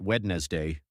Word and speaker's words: Wednesday: Yet, somehow we pronounce it Wednesday, not Wednesday, not Wednesday, just Wednesday.